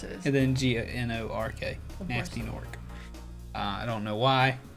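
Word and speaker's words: Gnasty Gnorc: an episode and then this fella's name is nasty nork ah but it's spelled g-n-a-s-t-y of course it is and then g-a-n-o-r-k nasty nork uh i don't know why but he's a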